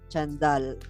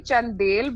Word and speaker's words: Chandel: how are you doing I hope I pronounced the last name right Chandal because you got it you actually it's actually chandelle but I I I